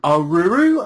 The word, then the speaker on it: Aruru: Like, I swear, at the end of Yon, when I eventually defeated Dark Aruru, I'm guessing that's the correct pronunciation.